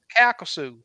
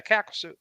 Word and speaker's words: Calcasieu: Calcasieu, Louisiana. I guess I pronounced it right. Yeah, Calcasieu.